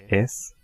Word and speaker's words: y: We are going to write y, but we are going to pronounce it as e.